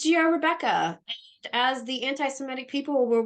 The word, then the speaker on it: Rebekah: It's Rebekah. As the anti-Semitic people will routinely point out for you, it is spelled the biblical way, as in Genesis.